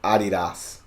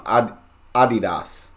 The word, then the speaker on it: Adidas: soccer jersey celebrate Germany the world I know Adidas I know this one Adidas Adidas not Adidas Adidas but I always say